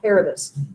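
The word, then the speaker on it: Kerberos: Oh, I forgot about the 3-headed dog, Caribus. It is a ka, not a sa. We changed the pronunciation. The original pronunciation was a hard K sound.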